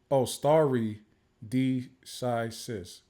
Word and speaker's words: stare decisis: Esquire is starry decisis.